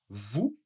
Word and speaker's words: vous: Alors, pareil comme avec nous, le S n'est pas prononcé. vous, sauf si et bien sûr il y a une voyelle.